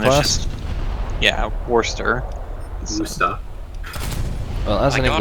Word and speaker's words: Worcester: Wusta.